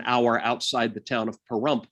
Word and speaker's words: Pahrump: outside the town of pahrump which rhymes with dump anyway there's tons of